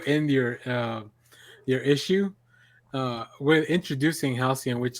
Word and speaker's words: Halcyon: like, first of all, until we did this podcast, I didn't know how to pronounce his name, so thank you guys very much for that. For some reason, I always kept reading it like with the C and the L backwards, but yeah, it's really